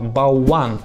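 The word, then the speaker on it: bałwan: Точнее, по-польски оно правильно произносится как «болван».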